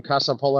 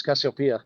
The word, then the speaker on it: Cassiopeia: I heard you say it the first time, Casapola. I'm like, dude, it's Cassiopeia.